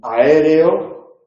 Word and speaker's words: aéreo: En aéreo le ponemos acento porque estamos ante una esdrújula. Aéreo hay 4 sílabas, es la segunda sílaba la tónica, por lo tanto es la antepenúltima. Ahí tenemos que acentuar la E, aéreo, en aeronáutico acentuaremos la